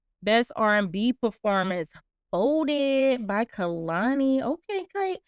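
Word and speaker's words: Kehlani: For Best R&B Performance, Folded by Kalani. Okay, Kate. Oh wait, it's Kaylani, right? Kaylani. I think that's how you say her name.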